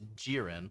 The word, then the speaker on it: Jiren: We we pronounced it Gyron all of last semester and then he just recently was just like it's Jiren like the Dragon Ball character.